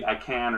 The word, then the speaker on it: Icahn: I think it's pronounced Icahn. It could be Icahn or something like that.